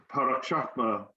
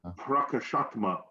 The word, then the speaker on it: Prakashatma: We're going somewhere in France, and our dearmost Sriman Parikrama Prabhu is going to be speaking on this great, sorry, I'm terrible, aren't I? Prakashatma. See, yeah. Prakashatma.